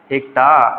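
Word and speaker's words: hecto: फिर यहां पे हमारा आ जाता है हेक्टा या फिर हेक्टो भी बोलते हैं हम लोग इसको। ठीक है? हेक्टा या फिर हेक्टो जो भी आपके जो भी प्रोनाउंसिएशन होंगे उस तरीके से हम लोग उसको बोलेंगे।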